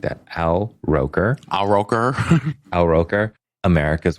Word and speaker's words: Al Roker: that was really cool I got to meet aloka America why did I say it like that Al Roker Al roer Al roer America's weatherman and America's